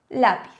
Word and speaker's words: lápiz: Tendríamos la piz separada en sílabas, por lo tanto el golpe de voz sabemos que lo tenemos en la, que lo tenemos aquí.